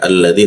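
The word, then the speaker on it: الذي: Utsman itu tidak ada cara membacanya alif bertemu lam itu selalu dibaca al dia al masuk ke bawah hidung dia. Alladzi dzi ujung lidah digigit dia dzi nah bertemu ya ya di tengah lidah jadi huruf dzya dibaca agak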